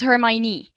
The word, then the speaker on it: Hermione: and her hermione so this is how i pronounce her name so this is ron the boy and this is hermione his best friends so you're not supposed to